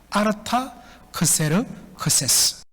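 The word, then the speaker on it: Artaxerxes: 아닥사스다가 누구라고 그랬죠 예 정확한 페르시아식 발음은 아르타 크세르크세스입니다 아르타 크세르 크세스 이 사람은 페르시아 제국의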